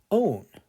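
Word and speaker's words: -one: will have the suffix own yeah it looks like how you would spell the number one but it's pronounced own so let's take a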